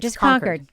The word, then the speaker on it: Concord: Conquered.